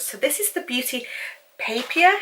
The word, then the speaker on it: Papier: So this is the Beauty Papier, is that how you say it, or papaya? No, I don't think it's papaya, it's papier.